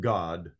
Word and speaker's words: Gad: a troop it's not I know it's pronounced God but it's doesn't have